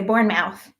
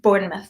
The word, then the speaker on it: Bournemouth: local from Bournemouth Bournemouth as an American I want to say Bournemouth but I know it's pronounced bored enough isn't it um Bournemouth